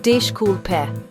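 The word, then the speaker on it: desculpe: It sounds like dishe pair.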